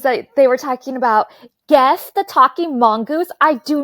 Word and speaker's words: Gef: So Gef the Talking Oh, it's Mongoose was Jeff. Jeff, yeah. It's spelled G Gef, so I was like G-E-F. Gef. Gef.